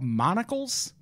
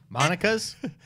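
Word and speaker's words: Monical's: it's a place called Monocle's. Monica's? It's Like Monica, a but with monocle, like a fancy man? Monica, but with an L at the end.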